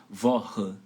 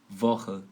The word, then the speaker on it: Woche: Então, e aí, qual é a regra para o CH? Para ele ter esse som de RR. Woche, Woche, Woche.